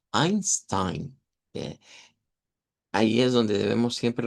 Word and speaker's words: Einstein: Eh, y es que si se revisa el apellido de ese señor, se escribe con e i, pero todos lo pronuncian como Einstein.